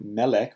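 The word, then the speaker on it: מֶלֶךְ: They have their stress on the first syllable. So the main thing that is distinctive of these nouns is that instead of stressing their last syllable, they're stressed on their first syllable.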